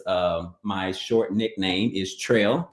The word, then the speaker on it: Trell: is an alias um my short nickname is tril t r l l although a lot of